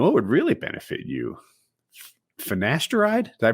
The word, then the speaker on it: finasteride: think you know what would really benefit you finasteride did i pronounce it right yep how do you say